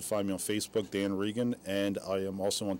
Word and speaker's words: Regan: on Twitter at Dan Regans with an S as well. Okay, and that's spelled R-E-G-A-N. Yes. Okay, got it. So it's Dan Regan, not like our former president.